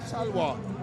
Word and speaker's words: talwar: Talwar, did I say it right? Talwar.